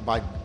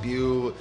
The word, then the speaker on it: Beau: obviously now you spell you spell it b e Au U correct pronounced B correct okay a lot of people have pronounced it bu if I say it